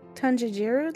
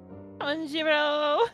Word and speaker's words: Tanjiro: Is there any Tanjiru left? Tanjiro.